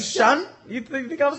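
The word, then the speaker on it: Shon: Spelling of Sean, but his name is fucking Sean. It was funnier in my brain. I'm gonna keep it like that. Oh, you thought I was just saying Sean?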